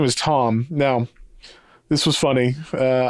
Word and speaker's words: Thom: Uh, it's spelled T H O M, like Tom York from Radio Head, but John had never heard of that spelling before, seeing it spelled like that. So, he thought the guy's name was Thom the whole time.